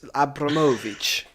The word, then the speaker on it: Abramovich: keys there's no that's not how you say it it's uh it's like uh you sort of roll it like it's a james blunt song it's abramovich is the uh okay this